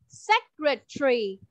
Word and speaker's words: secretary: Từ này mình sẽ đọc là secretary. Secretary. Secretary. Tree, đúng rồi. Again. Các bạn đọc lại theo cô, từ này thực ra cũng rất là khó nè. Mình đọc thì có 3 âm thôi.